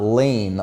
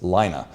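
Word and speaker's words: Laine: announcer actually said it so it's not Lane like my middle name which is how I pronounced it in the past it's Lina but we're talking about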